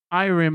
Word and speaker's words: Irem: There's a lot of misconceptions around R-Type 3 actually, because a lot of people think that Irem or Irem, however you want to pronounce it, they actually made R-Type 3, but they didn't.